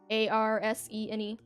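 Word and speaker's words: Arsène: The other guy his name is Arsen. Arsene. Not like arson, like burning buildings down. It sounds like it, but it's spelled different, I promise.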